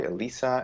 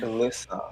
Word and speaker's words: Alyssa: name to pronounce too oh it's alyssa all right yeah i kind of like when people call me elisa like it feels like i'm very fancy actually do you think alyssa